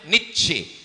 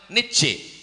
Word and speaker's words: Nietzsche: Iko namanya Nietzsche. Tulisannya payah mingeknya. Pokoknya jauh membacanya Nietzsche.